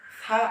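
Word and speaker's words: فاء: এরপর ফা, ফাটা উচ্চারণ হবে হচ্ছে নিচের ঠোঁটের পেট, এই যে নিচের ঠোঁটের পেট সামনের উপরে দুইটা দাঁত আগার সঙ্গে লাগবে, উপরের আগা এবং নিচের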